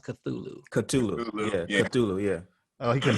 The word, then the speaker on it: Cthulhu: what she is uh and out of nowhere chitulu uh it's basically like a a giant uh